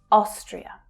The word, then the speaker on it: Austria: Austria. But you'll hear that the stress pattern is different, okay? The stress pattern puts the stress on the first syllable, okay? The first syllable is stressed. Austria.